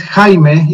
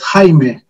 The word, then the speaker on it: Jaime: My name is Jaime. It is pronounced as Jaime. Actually, I work in Japan, but I am Mexican. So it's a Spanish pronunciation, Jaime.